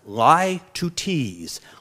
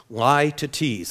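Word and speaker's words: litotes: l i t o t s and it's pronounced lie to tease lie to tease like someone's lying to tease somebody lie to tease all right here's the figure of speech that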